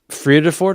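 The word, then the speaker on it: Vredefort: in the world it's in South Africa actually verdeford how do you say that Alan is that right uh free at affords yeah free to afford okay uh so it yeah it was believed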